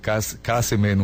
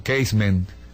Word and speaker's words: Casement: describiendo la historia de Roger kemen o casement dependiendo la pronunciación si es inglesa o española cuando él busca la